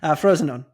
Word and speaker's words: Frosinone: Anthony, can you pronounce it correctly, please? Cagliari. Cagliari. No, Frosinone.